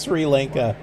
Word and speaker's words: Sri Lanka: I am saying it right yay it is Sri Lanka I couldn't think of another way to say it it just seemed like Sri Lanka maybe I heard it somewhere I don't know